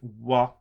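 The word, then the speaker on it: は: sometimes when you are supposed to get a what in the transliteration you get in google translate it actually says ha instead so you have to be aware of that it is pronounced wha when it is a theme particle in everything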